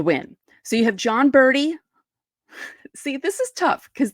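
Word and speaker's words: Berti: so you have John birdie see this is tough because they pronounced the names the same even though one is b r d and the other one is b r oops b r ti so yeah so you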